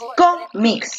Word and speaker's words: cómics: y muy bien excelente donde recale la mayor fuerza de voz en com o en mix 5 en como excelente porque tú dices con mick tú no dices cómics